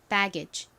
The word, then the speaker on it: baggage: 여기 앞에 배 부분에 강세를 딱 주세요. baggage.